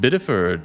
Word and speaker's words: Bideford: It's pronounced Bideford, for your information. Presumably all of the old people living there. Oh yeah, like old biddies.